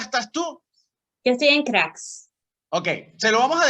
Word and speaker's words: Graz: Yo estoy en Crax. Ok, se lo vamos a dejar aquí abajo. Se lo vamos a dejar aquí abajo cómo se escribe. Crax es G-R-A-Z, Crax.